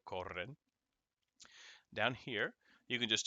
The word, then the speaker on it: corren: Little hints and tips as to how these things are pronounced, like two R's go r, perro, corren.